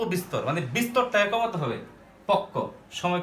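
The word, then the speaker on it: পক্ব: যেমন আমরা একটা লিখলাম পক্ষ, এটা আমরা সাধারণত পক্ষ উচ্চারণ করি, কিন্তু এটা যদি আমরা অরিজিনাল উচ্চারণ করি তখন আমরা কি করি? পক ব। এখন আমরা যখন পক ব উচ্চারণ করব, এটা উচ্চারণ করতে গেলে দীর্ঘ সময়ের প্রয়োজন হয়, পক ব। কিন্তু এখন যদি আমরা উচ্চারণ করি পক্ক, তখন আগের চেয়ে সময়টা একটু কম লাগে।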